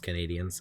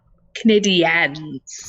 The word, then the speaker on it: Canadiens: The Montreal Canadiens. Is that how you say it? I think it's just Canadians. I'm unsure. Canadiens. Of course.